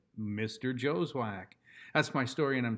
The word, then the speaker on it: Joswiak: my name is joswak i don't care how it's spelled that's how you say it mr joswack that's my story and